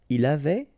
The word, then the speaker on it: avait: Il avait, final T not pronounced.